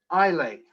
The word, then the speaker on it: Islay: Scotch whiskies, how do you pronounce Islay? Islay.